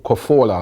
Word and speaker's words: Cazorla: Santi Cazorla, or Cazorla, as people keep cussing me and saying that I should pronounce his name right.